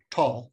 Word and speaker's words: Thal: that was spelled t-h-a-l tall that's how it's pronounced in in German so Neanderthal neander Valley